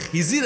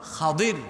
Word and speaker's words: খাদির: আলাইহিমুস সালাম আমাদের দেশে অনেক লোকজন উনার নামটা ভুল উচ্চারণ করে বলে খিজির আলাইহিস সালাম কিন্তু উনার সঠিক এবং শুদ্ধ নামটা হল খাদির আলাইহিস সালাম উনাদের মধ্যকার এক চমকপ্রদ ঘটনা এসেছে।